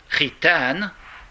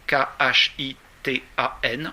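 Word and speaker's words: خِتان: En revanche, la circoncision, khitan, K-H-I-T-A-N, en arabe, si ça vous intéresse, ça s'écrit K-H, donc souvent ça se prononce khitan. En fait, c'est ré. K-H, ça se prononce ré.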